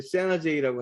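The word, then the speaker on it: San Jose: 곳이라고 하는 데가 이제 세나제이라고 하는 데인데요. 이제 미국 사람들은 거기를 세나제이라고 많이 부르고 한국 사람들은 거기를 콕 집어서 산호세라고 부릅니다. 그래서 산호세를 영어로 발음하면 세나제이 이렇게 불러요.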